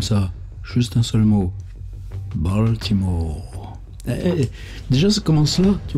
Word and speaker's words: Baltimore: Baltimore. Déjà, ça commence là, tu vois, moi, le mot. Je sais même pas le prononcer quand t'es aux US. Balmer.